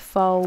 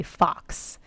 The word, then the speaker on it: faux: a French word, but I cannot stand when people say fox, because it's spelled with an X that's silent, and people say fox, and it drives me up a wall.